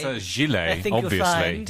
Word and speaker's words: gilet: Ordinary people Call it a gillet. say gillet. What should I say? Gilet. Gilet. It's on the second syllable there.